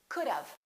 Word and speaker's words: could've: could it's not could we put a little a sound in there and it sounds like this of of could of it sounds like this think about dove which is a bird the bird of and st. cool dove cool dove could've could've let's practice that